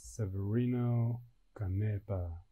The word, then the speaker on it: Severino Canepa: killing my name is severino canepa don't say it like a severe rhino canopy no english accent on it please not kidding because i